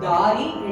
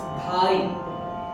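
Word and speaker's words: धारी: Again, it's not Dari, it's Dhari. Dari also has some kind of meaning, but Dhari means he holds or he sports.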